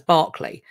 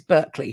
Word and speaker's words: Berkeley: of California uh berkship Berkeley California okay because I think we call it we'd call it we'd pronounce that as Barclay um or barkshire so this is Berkeley for you Berkeley the he